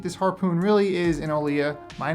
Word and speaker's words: Olija: I know it's spelled Olija, but it's Olija. The game is pronounced Olija.